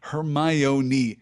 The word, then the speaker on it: Hermione: in black and white how do you pronounce Hermione's name you pronounce it her my own E she said slowly and